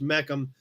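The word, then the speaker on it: Mecham: what we just said it's actually spelled different than meecan bill the dealership was m-e-c-h-a-m pronounced meckham was the pontiac deal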